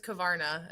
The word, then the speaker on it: Korvarna: So, my last name is Kavana, a Northwest Iowa small little family bundle.